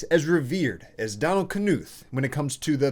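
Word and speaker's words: Knuth: talk about him also that is how you pronounce his name which is unnatural for me because if that's how I pronounce all words like that then my name would be far night but it's not it's far night anyway there are few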